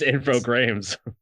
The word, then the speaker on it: Infogrames: You gotta say it right, Mike. It's Infogrames, which have since gone bankrupt.